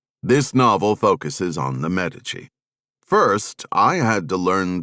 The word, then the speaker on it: Medici: This novel focuses on the Medici. First, I had to learn the correct way to pronounce the name. Americans tend to go with Medici. Italians though pronounce it, Medici.